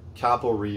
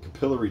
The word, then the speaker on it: capillary: of metering devices there's cap tubes or capillary or capillary tube depending on where you live is how you say it tx valves automatic expansion